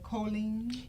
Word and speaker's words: choline: I pronouncing this right? Choline?